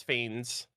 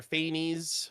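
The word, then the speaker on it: Phanes: It's uh, their name is Fins. P H A P H A N E S. I don't know how it's if it's pronounced fins or faines or or what, but I I pronounce it fins.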